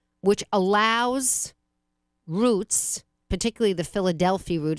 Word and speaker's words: Philadelphi: allows routes, particularly the Philadelphia route. It sounds like Philadelphia, and it's spelled like Philadelphia without the A, Philadelphia route.